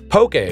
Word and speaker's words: poke: info on our list Pokey before you ask is a traditional Hawaiian raw fish meal commonly served in a bowl as an appetizer and sometimes as an entree also it is pronounced poke you know in case